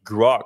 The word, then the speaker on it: Grok: I think that's how you pronounce it, right? Grok.